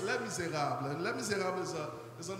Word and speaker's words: Les Misérables: In English, I love when they pronounce it, they say Les Misérables, but it's Les Misérables.